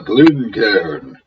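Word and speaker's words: Glencairn: c a r n it is not a couple named Glenn and Karen the second syllable is c a i n one syllable Ken but be that as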